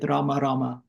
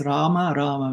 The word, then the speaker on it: Rama: H har H har it's not nothing to do with ramama it's Rama with a long A Rama Rama Rama it's